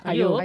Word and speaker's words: Ayyoub: Ho he dit bé, no? Ayub, sí.